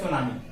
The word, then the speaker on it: tsunami: सुनामी की spelling में आगे टी आया हुआ है, टी साइलेंट होता है, तो इसको बोलते हैं सुनामी।